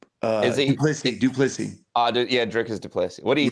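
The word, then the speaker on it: du Plessis: Sean Strickland and then his previous fight against how do you pronounce his name? Duplessis.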